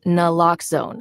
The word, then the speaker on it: naloxone: Noone reverses an opioid overdose even if you mispronounce it for the record it's naloxone n like is nxone addictive nuh locks like